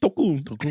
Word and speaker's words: Tokon: It's What is it, how you say it? Oh, you hit that shit. Token? Tokun. yeah, Tokun. Tokun.